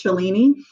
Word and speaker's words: Shalini: um it's pretty much I don't correct people if they say my name as chelini because that's name to is something I I grew up with because it's not easy